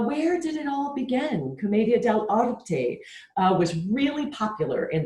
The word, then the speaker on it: commedia dell'arte: with you one of my favorite art forms comedia del orte i'll say it then you say it comedia del arte now say it like you're really scared comedian